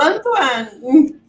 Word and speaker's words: Antoine: Como é que pronuncia? Eu falo Antoine.